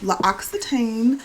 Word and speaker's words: L'Occitane: because I got this cute little PR box, L'Occitane, that's how you say it.